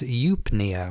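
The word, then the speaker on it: eupnea: good and then add the root word for breathing Nia and you get a funny word that's pronounced yupnia which means good breath if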